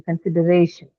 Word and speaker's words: consideration: right on the syllable right before the suffix. Which is Ray, The ray. Correct. This one. Consideration. So, ray. The syllable right before the one carrying. Correct. Absolutely. Consideration. That's how you say it.